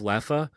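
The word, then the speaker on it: Leffe: I was like oh do you have Lea because it's that's how you pronounce it the Es are like A's you know and uh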